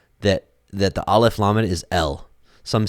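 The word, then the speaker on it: אל: I mean, it's undisputed that the Aleph Lamed is El. Some say Al.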